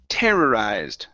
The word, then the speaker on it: terrorized: this word here is terrorized our stresses at the very beginning terrorized terrorized uh one more time put the stress at the beginning instead of terrorized D